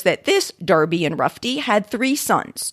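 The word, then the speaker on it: Enroughty: goes on to say the spelling in rufty has never been pronounced derby so far as we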